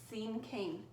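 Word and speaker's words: cinquain: an interesting word to pronounce but it is pronounced same king and what a scene cane poem is is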